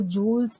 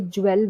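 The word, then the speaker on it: jewel: देखो जूल्स बोला है यहाँ पे, जूल्स मतलब जूल्स, हम लोग कई लोग इसे ज्वेल बोलते हैं, ज्वेल गलत होता है प्रोनाउंसिएशन, इसे बोलेंगे जूल, वेल को बोलेंगे वूल, और इसे ज, ज आधा ज, जूल, एंड his horse, Hari,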